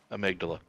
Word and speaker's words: amygdala: No, there's a part of the human brain called the AM amygdala.